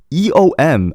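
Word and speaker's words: 엄: And it's pronounced E-O-M. I feel like it's gonna make a lot of people confused. E-O-M. How do you pronounce this? Eom? Eom? No, it's So it's just U-H-M.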